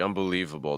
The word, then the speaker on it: unbelievable: the other syllables so distress here on unbelievable like unbelievable the stress gonna be on the leave can you say leave